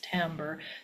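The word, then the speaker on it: timbre: So sometimes people say it timber, but it's tambber.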